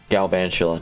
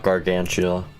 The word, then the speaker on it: Galvantula: color green that's great Galvantula not gargantula my bad little mispronunciation is good for Pokemon speaking